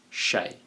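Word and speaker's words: Hsieh: delivering Happiness by Tony Shea by the way Shay is spelled h s i e h it's pronounced Shea Tony Shea is the CEO of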